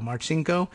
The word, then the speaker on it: Marcinko: real name is Nadia Marchenko I'm guessing at the pronunciation there by the way it is M AR CIN Marcinko and before that I guess her